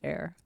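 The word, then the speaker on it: Heir: left oh okay yeah the H is silent so it's air like an air to the throne yeah yeah yeah uh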